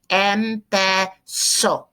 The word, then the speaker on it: empezó: So it becomes empezó. Accent on the O, accent on the O.